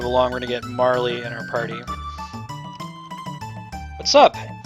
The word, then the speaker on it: Marle: significant later sure probs I've heard people pronounce it Marl but I think Marley is prettier and probably correct so hell yeah